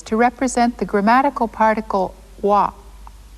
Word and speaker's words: は: you've already learned that this letter is pronounced ha. but it is also used in sentences to represent the grammatical particle wa.